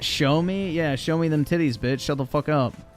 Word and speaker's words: Xiaomi: Actually, it's pronounced show me.